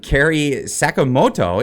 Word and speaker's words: Carey Sakamoto: with her lawyer uh Carey Sakamoto is that how you pronounce that sorry it is and also uh Eva